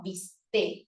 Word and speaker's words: bistec: bistec terminado en C que lo preferible es que se diga vist sin ningún tipo de consonante al final es lo preferible Ah profe Entonces qué